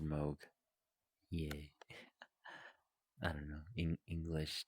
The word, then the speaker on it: Moog: may read it and be like oh that's Moog no no it's pronounced Moog yeah I don't know English doesn't English sometimes